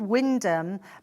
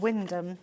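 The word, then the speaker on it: Wymondham: near a place called um well it's called Windham but it's pronounced well it's spelled y mondum yeah but it's actually called Windham yeah well Dawn in lovely Lincolnshire you just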